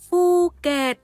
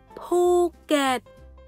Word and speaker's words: Phuket: Vì vậy từ này không đọc là Phuket mà phải đọc là Phuket, Phuket.